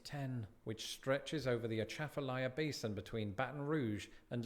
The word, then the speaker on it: Atchafalaya: Atchafalaya Basin Bridge.